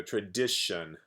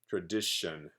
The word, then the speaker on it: tradition: a lot is that the TI is pronounced like SH like Shh and tion all together is tion tion so tradition tradition and I know why